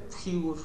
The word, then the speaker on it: Sigur: ponle Sigur.